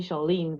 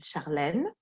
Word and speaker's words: Charlene: is charlene um well american people call me charlene but in french is charlene love it when you say it it's way better yeah and i'm living